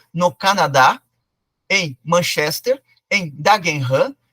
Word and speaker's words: Dagenham: penetrou por exemplo no Canadá em Manchester em dagenham e em Colônia na Alemanha dagenham é um